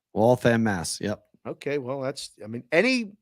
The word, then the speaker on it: Waltham: Waltham, Waltham, Mass.